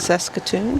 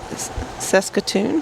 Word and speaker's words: Saskatoon: Can you tell me how to pronounce that, please? Because I'm just going to freaking Is it Saskatoon? There you go. Say it again. Saskatoon.